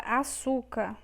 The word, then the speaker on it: açúcar: Vamos agora separar a palavra açúcar. Vamos lá. Com acento, car. É assim que separamos a palavra açúcar. Açúcar. Já também temos a sílaba tônica, que é o su. Então, é paroxítona.